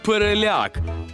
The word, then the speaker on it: переляк: варіант Прямо в точку переляк тут наголошуємо на останній склад Я перелякався значить переляк